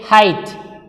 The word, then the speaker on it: height: Look at the word height. We say height. So, here this is completely silent.